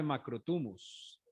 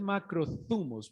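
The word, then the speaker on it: μακρόθυμος: van a pedir dame macro tubos bueno de hecho es macro zumos pero es que esa pronunciación me cuesta ese test th me cuesta entonces como yo soy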